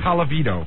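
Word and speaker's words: Colavito: Calavito.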